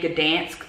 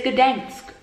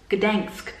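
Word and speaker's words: Gdańsk: want to point out that I was saying Gdansk the whole time, so I was pronouncing the city name wrong. It is Gdansk, Gdansk, okay?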